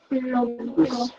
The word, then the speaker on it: lógico: Lógico. Lógico. Lógico. No ja, never ja. Lógico, right? Logical. Lógico because of the I. It's the soft sound.